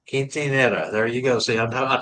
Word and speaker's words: quinceañera: It's 15 is quinceañera. Quinceanera.